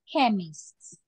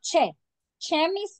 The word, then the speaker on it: chemist: British English we have chemists clear it is not it is the pronunciation is not Che chist no the pronunciation is K chemist okay so for example